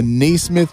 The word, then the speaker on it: Naismith: Yeah, Naismith.